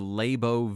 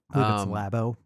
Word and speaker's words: Labo: You know how many games worked with the Labbo VR headset? Labo. Is it Labo? Short for laboratory.